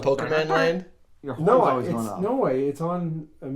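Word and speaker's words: Pokémon: Pokemon.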